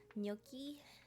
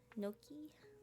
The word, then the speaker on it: gnocchi: do you pronounce this i think the g is silent i'm excited i i like mushrooms please don't blame me for my pronunciation no key yeah it is this reversed okay thanks guys thanks for helping me out with the pronunciation she's silent like lasagna okay lil wayne gnocchi noki like loki okay thank you guys